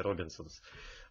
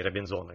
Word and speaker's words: Робинзоны: типа, Робинзонов, то бишь, я просто часто ударение ставлю на, как в английском варианте, Робинсонс, а не Робинзоны, как по-русски, ну, неважно.